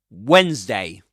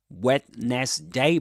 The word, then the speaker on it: Wednesday: This is Wens-day. Wens-day. You don't say Wednesday, but Wens-day. And this is the phonemic transcription, right? Wens-day. 2 syllables. Wens-day.